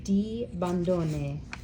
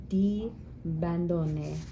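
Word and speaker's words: di Bondone: of cool things about the the name is pronounced de Bandon de Bandon um so the script in your tutor binder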